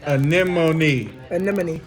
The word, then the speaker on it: anemone: literally any marinesis monster in your grade it's pronounced anemone yeah I hear people who are pronouncing wrong